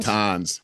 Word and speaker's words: Natanz: Natanz? Natanz.